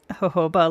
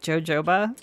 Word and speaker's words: jojoba: People pronouncing Hoba like JoJoba. And it's a valid assumption if you don't know where it comes from, right? It could be Yoyoba, it could be Hoba, it could be Jojoba.